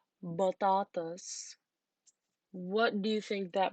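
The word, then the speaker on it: بطاطس: So the Arabic language does not have a p sound. It replaces it with b when it borrows it from English. So batatas is potatoes.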